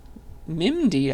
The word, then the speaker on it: MIMD: then the final corner mimd I guess is how you might say it uh that stands for